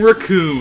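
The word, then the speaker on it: Recoome: One Hit come on my name racon it rhymes with doom and you'll be hurting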